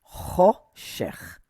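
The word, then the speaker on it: חֹשֶׁךְ: Sorry. Vela choshech. Okay, because this little dot right here is o.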